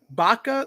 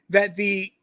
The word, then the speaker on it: Baca: This was at Baca Lake. I think I may be mispronouncing the lake name, but that was the lake. It's Bocca.